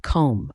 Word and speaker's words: comb: first in our list is comb pronounced comb a comb is a tool used for grooming